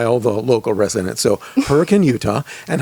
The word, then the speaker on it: Hurricane: of you who are not local it's not pronounced hurricane it's her it's hurricane so you gotta say it the right way or you will be promptly corrected by all the local residents so hurricane utah and how big is this place can